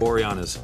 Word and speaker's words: Boreanaz: We're back with David Boreanaz. How do I pronounce it right? Boreanaz.